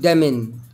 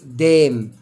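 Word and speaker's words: damn: سنت يعني رائحه برض لا ينطق حرف ال ان اذا جاء قبله حرف الام يعني هنا مش مش هنطق ال ان مش هقول دمن لا هقول ايه دام معناها اللعنه برضو لا ينطق حرف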